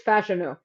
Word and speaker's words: Fashanu: do you pronounce it I always say fash I also did it also but apparently it's fashanu um that's that doesn't